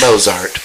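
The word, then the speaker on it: Mozart: where it doesn't belong most people do with moart it's moart okay there anyway it's a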